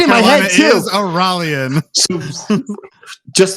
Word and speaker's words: Araluen: I pronounced it right. Take that, native. No, you didn't. You didn't not, actually. It's Araluen.